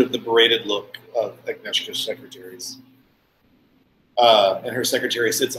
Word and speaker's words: Agnieszka: And then the last party in your table arrives, and it's your aunt, Agnesia. Am I saying that correctly? I wouldn't really know. Okay. It should be pronounced Agnieszka.